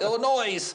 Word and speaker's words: Illinois: Which I will not hold against you, which I purposely chose not to mispronunciate the state like we all do and call it Illinois. Yeah. The S is silent.